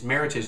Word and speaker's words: Meritage: Meritage first of all Meritage is Meritage not Meritage Meritage supposed to rhyme with Heritage it's supposed to be Merit and Heritage together and what they do